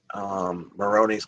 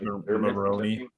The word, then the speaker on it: Mulroney: And then Maroney's character, did I say that wrong? Dermot Monroe. How do I pronounce his name? Dermot Mulroney.